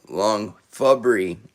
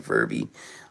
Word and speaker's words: Long Fubrey: Oh, I've been saying your name wrong. Long Fubrey. Oh my god, I was saying Furby.